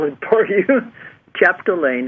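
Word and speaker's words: Chapdelaine: contact him sure okay Dr Anthony Anthony okay chapalain I'll have to spell it for you chapalain it's c h a p d e l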